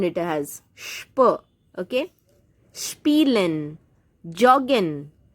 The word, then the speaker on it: joggen: I know J in German is pronounced like Y, or in English we can say Y, but this is an exceptional case. Please try to say it joggen only. Joggen. J for jug.